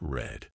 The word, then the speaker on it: read: to keep things interesting read in the present is pronounced like read but in the past it's red mind blown and why